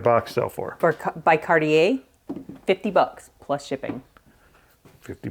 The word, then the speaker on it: Cartier: cardier cardier cardier cardier no it's cardier peer plate with original red presentation box and it has the dust cover it's called cardier it is spelled Cartier it's called cardier and this at estate sale